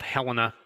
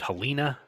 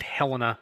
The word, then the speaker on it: Helena: a tribute to saint helena uh it's called helena there is some dispute over the pronunciation of that a lot of the southerners tried to call it helena uh folks from the midwest called it helena and that's the pronunciation that sort of stuck